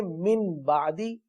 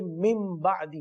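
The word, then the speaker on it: مِنْ بَعْدِ: तो नून साकिन और तनवीन को मीम से बदलकर इक्फा करते हैं, गुन्ना करते हैं, इसको इक़लाब कहते हैं. तो हमने मिन बादी नहीं पढ़ना बल्कि मिन बादी पढ़ना है.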